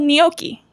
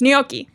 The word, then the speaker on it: gnocchi: So they're called gnocchi. Ah. It's spelled with a G and then an N. Like it's gnocchi.